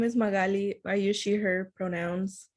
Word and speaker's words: Magaly: Magali? Hopefully I'm pronouncing that right. Magali? Hi, my name is Magali.